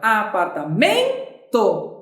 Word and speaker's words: apartamento: Então chama a palavra apartamento. Apartamento. Qual é a sílaba mais forte? É o men.